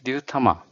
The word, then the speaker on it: Ryutama: called I don't know how to say it, Ryutama? Ah, yes, Ryutama. And this one is popular, I think. So, speaking of Ryutamas, I got to a TTRPG shop, Monodraco, and the owner of Monodraco developed Ryutama.